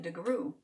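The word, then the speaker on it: DeGruy: The phonetic pronunciation. DeGrew.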